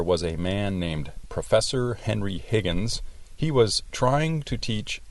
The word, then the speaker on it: Henry Higgins: Did you notice how she pronounced Henry Higgins? Ella dice Henry Higgins. No es correcto.